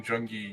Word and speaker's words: JUNGIEP: Not really much showing from Jungie yet. Also, the P is silent.